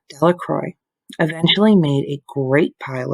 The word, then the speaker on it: Delacroix: jones and dickie delacroix the villagers pronounced this name delacroix eventually made a great